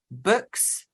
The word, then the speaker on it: BOOX: It also includes Kobo, Books, that's spelt with an X, so BOOX, and Nook.